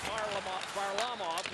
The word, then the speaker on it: Varlamov: And Nate said, well, Varlamov, and he said, yeah, just do that.